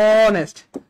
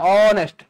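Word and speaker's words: honest: আপনি ভাঙ্গেন অনেস্ট তাইলে অনেস্টকে ভাঙলে কি দাঁড়ায় অনেস্ট তাইলে একটা ভাওয়েল আসতেছে কিনা ভাইয়া শুরুতে অনেস্ট বা আপনি যদি বাংলায় লিখেন তও দাঁড়ায় অনেস্ট শুরুতে বাংলা একটা ভাওয়েল আসতেছে কিনা অনেস্ট ও এর মত উচ্চারণ হচ্ছে ভাওয়েলের মত এজন্য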